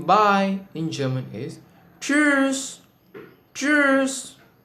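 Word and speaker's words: tschüss: German is cheers Cheers this is a little difficult to pronounce owing to its different spelling as well as the you whom loud what is this oome lout what use is it learn about this gradually in a future video there is a casual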